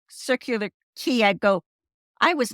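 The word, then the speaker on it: Circular Quay: every time you say every time you say circular key I go I was mispronouncing it I was constantly calling it circular qu the whole time so I'm like that's how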